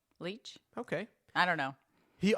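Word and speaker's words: Leitch: the name of David liit I'm sorry if I butchered your name sir it's Lei T C interesting fact Le L leech okay I don't know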